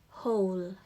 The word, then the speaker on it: whole: Next, whole, whole, whole. Okay, it's like a silent W.